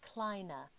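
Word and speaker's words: kline: of the kismos chair gives us the Klein I've also heard this pronounced Kina now what we see here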